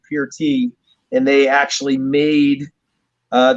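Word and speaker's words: Peart: him neil pert uh his last name is actually pronounced pure tea and they actually made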